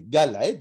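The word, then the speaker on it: גלעד: se rappeler cet endroit gal aide comme gilad va cracher mogale ait d'ailleurs à tora ses cris s'est prononcée gala aide mais c'est écrit gilad en un seul mot pour ce faire là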